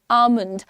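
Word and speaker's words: almond: Don't call it आलमंड। डोलमंड etcetera call it आलमंड L silent है।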